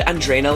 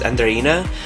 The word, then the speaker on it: Andreina: like was goals andreaina I said Andreina last time but I saw another video where where she's pronounced herself as andrina Andreina Dominican Republic I